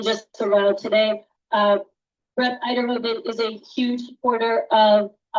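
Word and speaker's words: Uyterhoeven: We're also expecting Representative Erica Uterhoven. Am I saying that correctly? Is that? No, I'm not saying it correctly. I'm doing it terribly. I'm going to ask for help from Eiderhoven.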